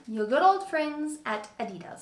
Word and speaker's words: adidas: good old friends at adidas so i say adidas some people say adidas i'm gonna say adidas just because i feel like it and i think that that's the right way to say it adidas but i needed